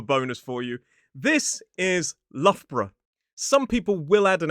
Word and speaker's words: Loughborough: Some people will add an extra sound in there, make it three syllables, Loughborough, but a lot of people just say Lough borough. So, the first part, Lough, rhymes with rough or tough.